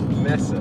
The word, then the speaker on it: Mesa: She says it is pronounced Mesa. So I would say, and the mayor and everyone else who works for the city of Mesa, we would say Mesa.